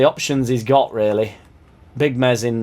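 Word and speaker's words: Meslier: he's got really big mezz in that silent s shackleton right back cooper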